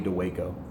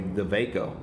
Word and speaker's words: Dawejko: I'm getting from Joey to Waco I think I've called Jason a couple of times it's Joey Defago I think it's called so I think it's pronounced Joey the Vaco not to Waco but anyhow you guys